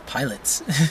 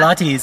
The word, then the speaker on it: Pilates: And I'm like, what's pilots? Then someone Pilots, said yeah. Pilates.